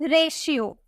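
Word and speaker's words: ratio: ठीक है, अगर हमें बोलना हो रेशियो, टी है, इसे हम क्या प्रोनाउंस कर रहे हैं? शॉ में प्रोनाउंस कर रहे हैं, हम इसे बोलेंगे रेशो, इसे हम शॉ में प्रोनाउंस कर रहे हैं।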